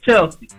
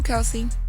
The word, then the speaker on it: Kelsey: You had said her name wrong. You said Chelsea. Like it's Chelsea. I just wanted to get that out there. I know Kelsey.